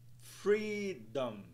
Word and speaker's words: freedom: entonação nas duas sílabas Freedom Freedom Freedom Freedom conseguiram aí pessoal enxergar que a primeira sílaba ela é mais alongada e pronunciada em um tom mais alto vamos dar uma olhada